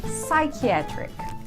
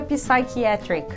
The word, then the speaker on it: psychiatric: O P é mudo, a gente não pronuncia ele. Psychology. Vamos ver outros exemplos. Psychiatric. Cuidado, não diga psychiatric.